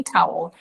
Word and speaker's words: towel: I was like no it's not not to it's actually towel and she learned of course